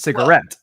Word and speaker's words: cigarette: I was putting the emphasis on the last syllable when it belongs on the first syllable in typical American accent.